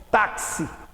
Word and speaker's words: táxi: de letras simples porque este x de táxi têm no plo valor sonoro eu pronunciei o xis como se fosse ks táxi por isso olha quatro